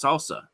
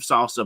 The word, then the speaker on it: SLSA: so Google recently released salsa yeah and again I'm going to probably butcher the term it's slsa.dev and it's basically secure